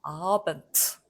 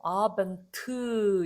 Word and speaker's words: Abend: 없이 브 발음이 나는데 요거는 뒤에 가서 다시 한번 말씀드리겠지만 유성 자음이 단어 맨 끝에 왔단 말이죠. 그래서 발음하기 힘들다. 유성음으로는. Abend. 이건 너무 힘들다. 그래서 얘도 브, 느, 그가 프트, 크가 된다는 규칙에 의해서 Abend 이렇게 된다는 거죠. 자, 그렇다고 여러분들도 아벤트 이러지 마시고요.